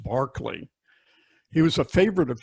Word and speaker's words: Berkeley: His name's spelled Berkeley, but it's pronounced Barclay.